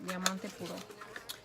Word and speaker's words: Diamante Puro: it's kind of funny how they can't really pronounce Diamante Puro. Thank God I'm fucking Mexican, so I can say it right. Diamante Puro.